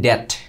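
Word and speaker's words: debt: আমরা জানি drown in ডট। এটা হচ্ছে ডট মানে ঋণ। বি এর উচ্চারণটা হয় না ন্যাচারালি।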